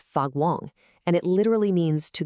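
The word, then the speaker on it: 发光: The term is fagwong, pronounced fagwong, and it literally means to glow or to radiate light.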